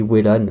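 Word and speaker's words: Wellan: véan moi je dis Velan il y en a qui dit Wan ça dépend comment vous prononcez vos W moi je dis Velan comme wagon euh mais Velan a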